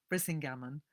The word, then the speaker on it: Brisingamen: I still remember as a 10-year-old reading the account in Alan Garner's novel, The Weird Stone of Brisingamen, sorry, I always pronounce that wrong, Brisingamen, of two children escaping